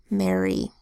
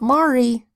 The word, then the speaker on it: Mary: air why that says e mmm air e Mary not Mari marry another one like that carrot CA RR